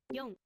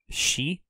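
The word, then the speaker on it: 四: Yon. Go. Go. So, ichi, ni, san, yon, go. This one here, 4, yon, is also sometimes pronounced shi. I think we saw that actually in the assessment.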